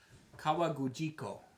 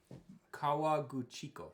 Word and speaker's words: Kawaguchiko: I'm going to try to pronounce this. Ready? Okay. Kawagujiko. That sounds about right. Kawaguchiko.